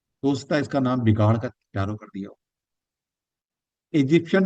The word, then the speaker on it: Tarot: तो इसके अंदर टैरट नहीं बोलते कभी भी, ही साइलेंट रहता है, टैरो बोलते हैं इसको।